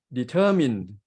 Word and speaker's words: determine: The word determined, so we stress at the middle syllable, determine, not determine. And in determination, the stress shifts to the word nay. It's become determination. The word determine, the stress in the middle.